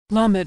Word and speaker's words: lamed: Lamed is pronounced L as in lucky.